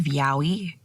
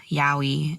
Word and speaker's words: yaoi: read a lot of yaoi. I actually pronounce it yao. For a long time, I just ignored the I.